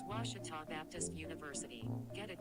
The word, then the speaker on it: Ouachita: really it's ouachita washington washington how would you pronounce it it's washita baptist university get it right it's water tall